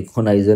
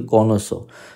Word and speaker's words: connoisseur: कॉनाइजर की भी स्पेलिंग गलत है, कॉनोसो, सॉरी कॉनाइजर नहीं होता, मैंने भी गलत बोल दिया, कॉनोसो, CONNOISSEUR, कॉनोसो कहते हैं।